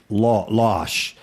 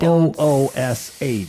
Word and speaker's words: loosh: Because I've heard it pronounced losh. No, But it's I don't. Loosh. So I would say it's loosh.